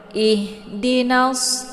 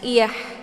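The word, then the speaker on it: اهْدِنَا: ihdinas, jangan iyah ya. Jangan dibaca iyah, tapi agak sedikit ditekan ya. Ihdinas, tapi tekannya ke bawah, jangan di pertengahan tenggorokan. Jadi suaranya gemang ke dada ya. Padahal bukan huruf dada ya, tapi masih tenggorokan, cuman bagian bawah.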